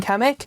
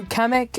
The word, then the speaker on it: Kamek: his minions obviously including kamik so kamek I think is how you pronounce it actually Speaks now so